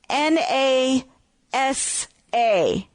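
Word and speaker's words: נשא: is the Hebrew word n a s a n a s a now I just love that because if you were to pronounce it it would be NASA well in the United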